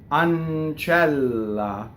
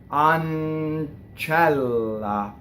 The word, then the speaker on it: ancella: on on chela so now you have a double n and a double L and only the Double L is printed but the N doubles because it goes into that consonant on channel okay Double L I